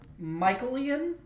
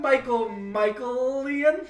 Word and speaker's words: Michaelian: DC Fontana and Michaelian, which sounds like made up. It's spelled sounds Michael with an I-N at the end.